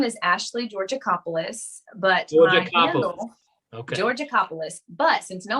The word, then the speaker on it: Georgakopoulos: the listeners yeah so my name is ashley georgiacopolis but georgia but since no one can ever say it or pronounce it spell it it's horrendous um i'm